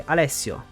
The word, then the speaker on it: Alessio: where we met priest Alesia which is pronounced almost perfectly there's just too much emphasis on the I it's actually alesio later on we met